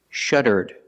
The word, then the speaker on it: shuddered: verb in the past I put Ed and I pronounce it like this shuddered shuddered with a D sound at the end shuttered you listen to